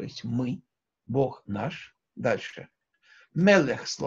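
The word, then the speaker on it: מֶלֶךְ: Мелех – сегулатные, то есть мы слышим тут два «э» – мелех, сегулатные слова, имеют ударение на предпоследний слог.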